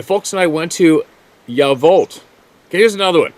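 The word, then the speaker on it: Yacolt: and I went to yavolt okay here's another one not gonna sound like that that that uh crotchety old guy it's spelled y-a-c-o-l-t but it's pronounced ya vault well why don't they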